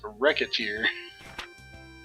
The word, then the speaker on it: Recettear: Also, yeah, if you mispronounce Recet and Tier together, Recettear, and it's Recettear.